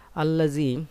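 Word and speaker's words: الذي: তাসনিয়া জমার ক্ষেত্রে তোমরা আল্লাজি এটা ইসমে মাওসুল শুরুতে আলিফটা এটা উচ্চারিত হবে না কারণ এটা হামজা ওয়াসুল হামজা ওসুল মাঝখানে আসলে আর উচ্চারিত হয় না শুরুতে হলে উচ্চারণ হতো আল্লাহতালা বলেছেন যে আল্লাজি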